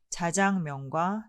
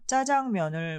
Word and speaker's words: 자장면: 그리고 한 가지, 자장면의 발음은 규범과 실제 사용 간의 차이에서 야기된 불편을 해소하기 위하여 자장면과 짜장면을 모두 표준어로 인정한 바 있습니다. 익숙하신 대로 발음하시면 되겠습니다.